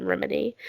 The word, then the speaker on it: Remini: Leah Remini, which is how you say her name, Remini.